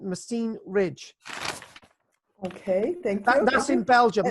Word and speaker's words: Messines: M ESS I an es machine the S is silent machine Ridge okay that's in Belgium us in Belgium